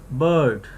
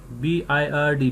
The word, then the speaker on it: bird: This vowel, bird, B-I-R-D, bird. Look at here, this sound, it's produced like that, it's pronounced like that, and it's middle. Lips position, relaxed lips, jaw half open, and the center of the tongue just slightly rising.